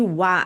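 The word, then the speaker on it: は: Escreve com o hiragana, a letra ra, só que pronuncia como wa quando tá dentro de uma estrutura na dentro da frase, tá bom?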